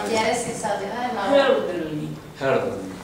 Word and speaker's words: Hölderlin: Hölderlin. La O suena, se pone la boca como E, pero es O sea, como se hace E, pero hace el sonido Hölderlin.